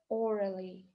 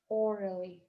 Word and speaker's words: orally: Orally, orally, устно. Смотрите, здесь мы тянем О, длинный звук О, а буква А дает звук шва. Orally, orally.